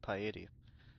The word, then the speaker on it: piety: Also, you were right to pronounce it, piety? Alright, piety. Because it kind of looked like deity with a P. That's why I said piety.